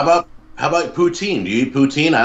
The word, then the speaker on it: poutine: Yeah, we say poutine.